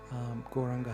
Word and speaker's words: Gauranga: Gauranga has 4 syllables. Go, Ra, Anga.